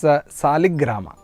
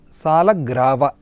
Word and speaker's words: Salagrava: Some people say Salagrama, some say Salagrava, some people say it call it as Saligrama. The correct pronunciation of this is Salagrava.